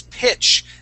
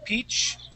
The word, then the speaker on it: pitch: like a Spanish Eye we would not say peach okay a peach would